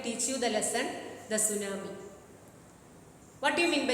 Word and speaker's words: tsunami: The first letter is silent. First letter T is silent.